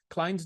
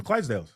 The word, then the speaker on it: Clydesdales: little puppies Budweiser commercial The clads Dales any pronounce the word those horses clients yeah the Clydesdales Clydesdale yeah those those all that is done